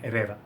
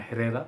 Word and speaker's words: Herrera: talking about Carolina Carolina Herrera people say Carolina Herrera but I think proper way to say her name is arena so the H is silent or something like that